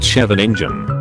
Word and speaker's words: Scheveningen: In WWII, the Dutch would identify German spies by how they pronounced Scheveningen, a district in The Hague. The Germans pronounced the first syllable as something like the English word chef, while the Dutch version has a guttural sket sound.